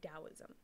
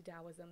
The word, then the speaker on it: Taoism: you're super new to taoism then just know that it does um it is spelled with a t but it is pronounced with a d sound okay that's the boring